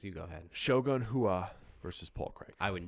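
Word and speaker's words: Rua: never in a shogun i would have got hua it's portuguese so the r is an h yeah anything portuguese just pronounce the r's as h's this is what i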